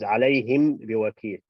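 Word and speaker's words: عليهم بوكيل: Last letter is a meme. First letter of the second word is ba. So when you pronounce it with the lips closed, again, this is going back to what we said in the club.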